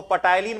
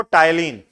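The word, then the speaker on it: ptyalin: दोनों एक ही है इसको पटाइन मत पढ़िए पी साइलेंट है ठीक है क्या पढ़ते हैं इसको टाइलिन यह किसका पाचन करेगा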